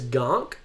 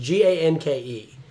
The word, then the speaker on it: Ganke: Morales, Ultimate Spider-Man's best friend, whose name was Gonk or Gonky. I'm not sure how to pronounce it. Ganke.